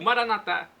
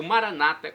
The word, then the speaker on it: Maranatá: O Maranatá, ou Maranata, como dizem nossos irmãos separados, os evangélicos ou protestantes. Não importa a pronúncia, o significado é o mesmo.